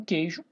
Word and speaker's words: queijo: O QU, pessoal, tem um queijo, né? Queijo. Também a mesma coisa, não pronuncio o U.